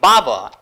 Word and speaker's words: Bower: the school as learning bower, indicating that it was supposed to be a pleasant place for the children. Now it has become like a bower. Bower means something which is pronounced equal to tower, but it is a difficult place.